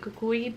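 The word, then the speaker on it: Cuco: I was gonna do El Cuckoo, or like, I know in other Spanish speaking countries they pronounce it cucuy, but in Puerto Rico it's pronounced coco, and it's the boogeyman,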